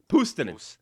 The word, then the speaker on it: Puustinen: I like the way you pronounce my name, but yeah, I like? I was going to ask you, is that how he pronounced it? correct? No. Pustinen.